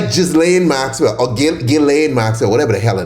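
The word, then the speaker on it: Ghislaine: The S is silent apparently. Will he pardon Gileain?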